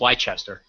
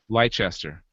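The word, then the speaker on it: Leicester: light light do you guys know how to pronounce that I think it's leester leester University of leester has used scientific research to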